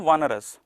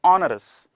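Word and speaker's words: onerous: चलिए भाई, सबसे पहले इसका प्रोनाउंसिएशन कुछ लोग बोलते हैं वनरस, बट ये है नहीं, वनरस नहीं है, that is ऑनरस, right. ऑनरस होता है ये।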